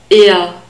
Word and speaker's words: er: not a e and we have a central our sound at the end so slightly more constricted than the norm will open our sound